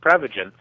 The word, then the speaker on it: Prevagen: Well, technically it's pronounced Prevagen, but what Prevagen is